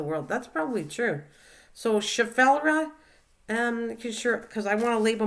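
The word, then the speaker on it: Schefflera: So, Chaffelra, because I want to label my plant after I get it rooted. Not spelled right, but spelled how pronounced.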